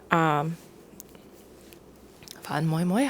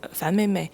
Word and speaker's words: Fan Mei Mei: Fan Moi Moi? I don't know how to pronounce it in Cantonese. It's Fan Mei Mei.